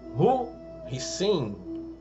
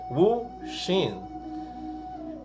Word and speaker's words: Wu Xin: Hoje nós vamos falar sobre o Hu Hsin, ou uma pronúncia mais correta seria Wu Xin.